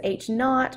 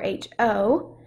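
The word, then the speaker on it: H₀: next to it um you can pronounce that as h naught or h o so the null hypothesis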